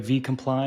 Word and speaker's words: VComply: name correctly I did I get it right V comply is that how you pronounce it Eric yes sir killer man all